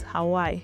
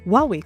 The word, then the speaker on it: Huawei: In Belgium and the Netherlands, people called it Huawei. In Nigeria, some called it Hawaii. The confusion became so bad that Huawei considered changing it. But instead, around 2012, they launched a global pronunciation campaign using Wow and Wei, which equal to Huawei.